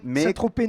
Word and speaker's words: Saint-Tropez: Quand on prononce nez, on ne prononce pas non plus le Z. C'est vrai. Mais Saint-Tropez non plus.